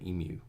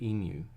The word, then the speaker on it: emu: I insist that the large bird from Australia is called an emu. And people in the know say emu, but a lot of Americans don't know the word because they haven't really heard it before, so they say emu.